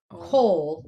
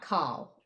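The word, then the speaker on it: כל: And that's a signal that we pronounce it kol, not kal.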